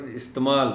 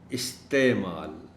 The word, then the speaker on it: استعمال: استعمال، یہ لفظ بھی کافی مظلوم ہے بیچارہ، چونکہ ہم اس کو عام طور پر استعمال پڑھ جاتے ہیں، یعنی عین کو ہم کھا جاتے ہیں. استعمال، استعمال.